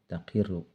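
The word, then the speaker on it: تقرّ: Di sini dibacanya wa an taqirru, ada an masdariyah, jadi dibacanya qauluhu taqirru, yaitu bikasril qafi, dengan dibaca kasroh ain fiilnya yaitu huruf qaf, wa fathiha, dan dibaca fathahnya qaf.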